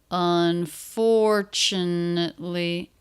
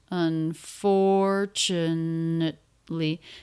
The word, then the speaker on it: unfortunately: their second syllable stress unfortunately the rest of the syllable is a little bit flatter and pitch said more quickly this T do you notice it's pronounced as a CH on fortune fortunately unfortunately say that with me